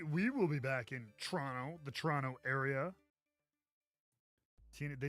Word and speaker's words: Toronto: shout out Richard Toronto yep Toronto Toronto yeah that's how they say it I got yeah I